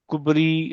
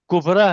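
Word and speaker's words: کبری: होता है ठीक है अब मुसबता है ये मुसबती नहीं है सॉरी मुस्तफा है मुस्तफी नहीं है उसके बगल में जो है वो कुबरा है कुबरी नहीं है हत्ता है ह नहीं है खुदा है हुदी नहीं है तो यह कुछ एक्सेप्शन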